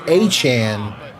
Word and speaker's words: Etienne: Like, so Travis Etienne, his last name is, it's pronounced Achan, but there's actually someone in the league with their last name Achan, I think, is how that works.